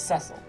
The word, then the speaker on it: Cecil: First, I do not like their pronunciation of Cecil. It's Cecil. Oh, it's very British.